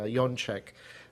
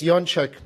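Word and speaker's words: Jaczek: Helena Yonk uh who will also be speaking uh later uh this morning. And uh it's Yonchek because we're Polish and that is the proper way to pronounce it.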